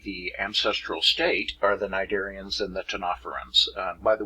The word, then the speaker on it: Cnidaria: ancestral state are the nidarians and the tanoferons by the way these are greek words you know ancient greek and these two consonant pairs right here it's the second consonant you pronounce that's why it's cnidarian